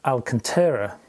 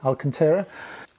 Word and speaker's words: Alcantara: free synthetic leather and alcantara hope you pronounce it that way alcantara it's quite soft around